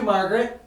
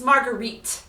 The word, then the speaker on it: Marguerite: Marguerite is French. That is how they pronounce their names.